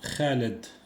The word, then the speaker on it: Khaled: Donc, aucune accent sans comme prénom Khaled. Kaled. En français, on dit Kaled. On ne prononce pas le H en français, Kaled directement. Mais par contre en arabe on dit khaled.